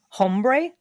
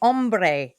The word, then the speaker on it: ombre: Hombre? No, ombre. We're going to go from light to dark. Was it a pet ant? uh, how do you spell that? Ombre? O no H. Ombre.